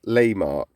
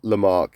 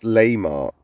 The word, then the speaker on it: Lehmark: Okay, so it's pronounced Lehmark. Lehmark. Out of all the micronations I've done, this is the one that I've actually mispronounced, and I thought I'd actually got it right. So it's not Lehmark, it's Lehmark.